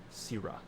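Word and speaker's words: Syrra: say your name again syrah syrup just think of the word syrup are sierra missed but with an a oh i'd like it yeah s-y-r-r-a sira c brah quit dropping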